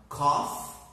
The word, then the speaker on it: cough: coughs repeat again cough remember there is a small difference Coffee is something we train I love coffee but we have coffee day which is the dream and we have the word cough which is not good I don't like to